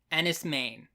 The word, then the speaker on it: Enys Men: Nights it's October 29th and tonight's movie is Andis M yes that is how it's pronounced I looked it up this is a